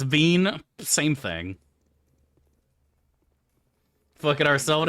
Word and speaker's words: Wien: It's pronounced Veen.